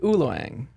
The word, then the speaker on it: ULOANG: you mean so uh it's based on my last name I just switched the syllables and made up the word uloang so I also made